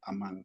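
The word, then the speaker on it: אָמַן: En hebreo viene de la raíz de la H539 que se pronuncia amán.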